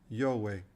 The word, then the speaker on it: Jove: to us this way i is the y in yes o is the o in the english pronunciation of paul v is a w e is not silent